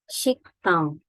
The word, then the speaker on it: 식당: Teman-teman bacanya 식당. Pakai T. 식당. Kenapa kayak gitu? Sebenarnya ada aturannya sih teman-teman. Tapi supaya mempermudah teman-teman, langsung aku tulisin romajinya. 식당.